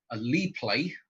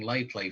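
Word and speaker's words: LiPlay: So you'll be able to win a Lee play. I'm going to make sure I say it correctly, otherwise, because I keep saying live play for some weird reason.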